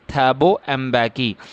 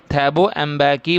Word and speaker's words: Thabo Mbeki: Just listen the pronunciation also. This is Thabo Mbeki. Thabo Mbeki was sworn in as first deputy president.